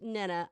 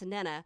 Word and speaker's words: Nana: And I strive to be the best Nana I can be to them. That's Nana, which rhymes with Jenna, not Nana, like banana.